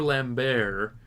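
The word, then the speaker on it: Lambert: he did one with Christopher lambar that's how it's his proper pronunciation lamb because he's French um but he did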